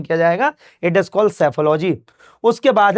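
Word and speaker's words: Psephology: उसके बाद है सैफोलॉजी। इसमें सी पी जो है वह साइलेंट होता है। तो सैफोलॉजी है।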